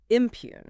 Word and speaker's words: impugn: It's spelled I m p uug gn, but the g is silent, so it's pronounced just as impugn.